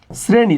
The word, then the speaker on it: শ্রেণী: শ্রেণী শব্দের উচ্চারণ কি দেখো এই সটা কার সাথে আছে এই র সাথে আছে র এর সাথে আছে কার সাথে আছে র এর সাথে আছে তার মানে এখানে হয়ে যাবে এটা দন্তস্য কি হয়ে যাবে দন্তস্য